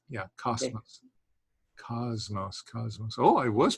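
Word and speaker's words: κόσμος: did is it or cosmos oh i'm sorry i must have slipped yes it's it's just a straight s it's not a it's not a buzzy uh s yeah cosmos cosmos cosmos oh i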